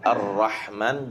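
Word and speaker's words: الرحمن: yang ada di kalimat arrahman jangan sampai a-nya itu tergelincir seakan-akan seperti pengucapan huruf O, tapi a a tetap fathah dengan itmamul harakat fathahnya arrah arrah nam mlaha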